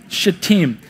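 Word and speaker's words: Shittim: sent two spies from team is how you pronounce that yep should team now try to avoid things like that but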